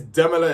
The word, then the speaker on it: Demila: Personally, the demiler I' I've realized that is Demila is how you say, not not Demola. I've been saying his name completely wrong.